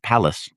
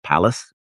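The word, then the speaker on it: Pallas: And uh her lover at the time of the story is uh palace. P A I AL L A S palace as in uh uh yeah he was a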